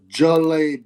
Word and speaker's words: Zhilei: Zhilei Zhang. Apparently is how you pronounce it. I don't know if he's an expert on Chinese talk, but Zhilei Zhang.